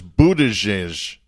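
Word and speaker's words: Buttigieg: our throat during yeah I believe Peters the pronunciation of his last name is Buddha sheesh so not a hard G in nope no Buddhist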